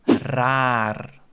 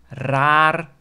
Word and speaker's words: raar: typical Dutch word is very challenging for someone with pronouncing the R Sound That's the word raar r a a raar Is Strange and you can also pronounced at raar as I've Explain in